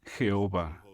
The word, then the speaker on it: Jehová: o jota h vh la pronunciación más común de este nombre hebreo es jehová hechos capítulo 15 versículos